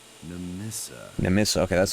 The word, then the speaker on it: Nemissa: Nemissa. Okay, that's how you pronounce it.